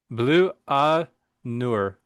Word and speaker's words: Blut Aus Nord: French pronunciation. Good Blut luck. Au Nord Blut or Aus Nord. Blut Au Nord, um, or Blut Aus Nord, as us Americans would call it, um, with their new album Ethereal Horizons.